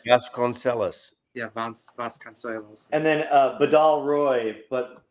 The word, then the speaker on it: Vasconcelos: Does anyone know how to pronounce that guy's name? Is it Vasconcelos. Vasconcelos. Yeah, Vasconcelos.